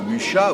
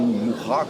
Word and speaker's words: Mucha: J'ai aussi une grande admiration pour Mucha, ou Mourra, selon comment on prononce.